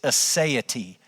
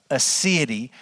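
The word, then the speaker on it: aseity: The theological term that we would actually use for God's self-existence is assay. Assay or sometimes it's it's pronounced God's asset. And so when we talk about God's assay or God's assity, it's a Latin word that literally means from himself.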